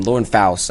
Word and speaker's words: Lauren Faust: Lauren Faust, actually, is how you say it.